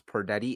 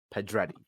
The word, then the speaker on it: Pedretti: __ ] in Victoria I I mispronounced her name last time as per daddy it is actually pedretti sorry thank you for letting